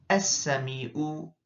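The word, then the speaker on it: السميع: What we also notice here, when we say as-sami'u, we don't pronounce the lam of the alif lam. The gets joined to the sin and the lam remains silent, as-sami'u.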